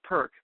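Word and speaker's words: PER-K: uh version is called perk p r hyphen K just pronounce as one word it's the business version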